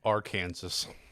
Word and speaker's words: Arkansas: that there's a Kansas and there's a state nearby Kansas that is called Arkansas It's the subreddit. that is not pronounced Arkansas.